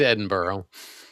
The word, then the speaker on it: Edinburgh: He he corrected me last time, so it's it's it is Edinburgh.